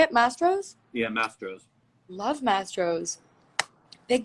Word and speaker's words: Mastro's: Oh my god, Mastros. Is that how you say it? Mastros?